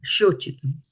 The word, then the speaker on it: śocitum: Yeah, śocitum, like sho. Sure, okay. Sho. Sure. So it's like a H, kind of almost Yeah, a SH. yeah, it's a H. Yeah, it is a SH.